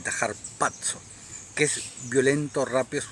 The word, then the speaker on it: harpazo: h en vez de con z y se pronuncia con una d entre la a y la c j patso que es violento rápido es un es como